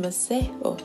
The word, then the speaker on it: Masego: chart where he saw the name masego a suwanna name pronounced maseo that meant blessing the name